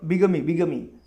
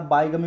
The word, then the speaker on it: bigamy: Next है बिगमी, BIGAMY, बिगमी। Actually इसका pronunciation बिगमी है, ठीक है उसका, लेकिन आप बायगमी भी आपको याद रखना है तो रख सकते हैं।